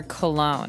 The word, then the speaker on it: cologne: So women wear perfume, like you said, but men wear cologne. And this word is very funny looking. It ends with, it's spelled Cologne. So you don't really say the G. It's not Cologne.